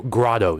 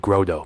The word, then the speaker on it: Grotto: So Grotto, not Grotto. during the uh burn scar event when we had the Bull Creek fire up there, I heard people pronouncing it Grodo, but they probably weren't from the area.